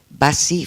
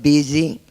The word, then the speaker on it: busy: You've mentioned signs, but my 2 favorite pronunciation errors are Bassi from bus, Bassi, instead of busy, Bassi.